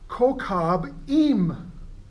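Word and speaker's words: כוכבים: In Hebrew, it's pronounced kokab im.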